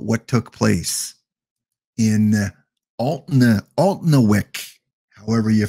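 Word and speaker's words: Alnwick: and we got a uh it say it anik okay anik that that's pretty pretty easy there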